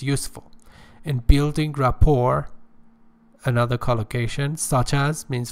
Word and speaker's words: rapport: and materials what is rapport pay attention the tense is not pronounced the last letter T is not pronounced oh don't say rapport okay rapport is a close not